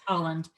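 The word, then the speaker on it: Haaland: pronounce her either. It's Holland.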